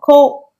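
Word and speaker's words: 去: Chữ khứ này các bạn sẽ nhận thấy rằng có cách đọc là kyo hoặc kô và cách đọc là sa.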